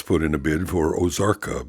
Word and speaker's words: Ozarka: Ross put in a bid for Ozarka because the O is a long O up front.